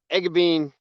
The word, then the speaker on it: Eggebeen: that didn't I no you said it right egab Bean right on excellent so where are we finding